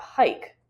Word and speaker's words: hike: letters h i k now there's a silent E so the way I was taught is you can have them wiggle the E to show that it's there but it's silent attach um the letters